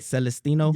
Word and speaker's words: Celestino: Did I say your last name right? Celestine? Yeah, you said it right, bro.